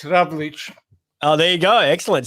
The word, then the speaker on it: Ravlic: It's been anglicised for years, so it's a Ravlic, but over there it's Ravlic.